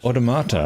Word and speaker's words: Automata: Automata, that's how you say it.